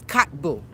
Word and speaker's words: Kotb: Nope. It's Kotbu. Kotbu? k o t and then the b u h cuz I I